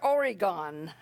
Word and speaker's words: Oregon: four years made reference to my return to oregon a pronunciation I had corrected with him over and